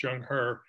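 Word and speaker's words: Zheng He: and coast in 1413 his name was jung herbs pronounced jung hur and he was a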